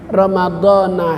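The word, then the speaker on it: رَمَضَانَ: an adai fardhi syahri ramadhana hadhihi sanati lillahi ta'ala. Kalau pakai aturan ilmu sorob, ilmu nahu, bacanya Ramadhani. Kalau mengikuti kebiasaan yang banyak, Ramadhana. Ramadhana sah puasanya, Ramadhani juga sah puasanya.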